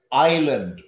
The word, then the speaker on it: island: it's not iceland it's island pulau the s is silent iceland is a country i-c-e so bali island i-s-l-a-n-d the s is